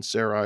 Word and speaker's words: Sarai: It's more the pronunciation. Sarai would have been more a dialect spelling and pronunciation from Ur, whereas Sarah is more of a Hebraic Canaanite dialect.